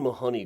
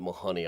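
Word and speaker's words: Mahony: the columbarium is Marion Mahoney Griffin and people who are really familiar with the work usually pronounce it Mahoney I always get emails saying it should be Mahoney but then no matter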